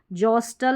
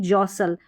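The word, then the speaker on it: jostle: यहाँ पर हस्टल नहीं हसल, ब्रिस्टल नहीं ब्रिसल, कास्टल नहीं कासल, जॉस्टल नहीं जॉसल, पेस्टल नहीं पढ़ना पैसल,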